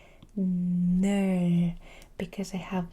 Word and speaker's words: 하늘: I make the word 하늘, 하늘. So we said this is an H but very soft. 하늘, because I have n, l, 하늘. I say 늘. 하늘 means sky. 하늘, 하늘, 하늘, 하늘.